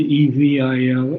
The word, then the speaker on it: evil: got two two points here word the word e v i l is spelled is pronounced evil evil evil evil yes